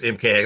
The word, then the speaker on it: MKHEXE: Um it's MKX. I guess we should have known because of MK Ultra.